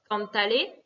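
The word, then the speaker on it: cántale: Pareil pour cantale, chante lui. Ici, on doit rajouter un accent écrit sur la première syllabe.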